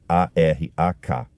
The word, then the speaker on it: Arak: E Arraque se escreve A R a K. Não é o país Iraque é uma cidade ou um município no Irã chamado Arak.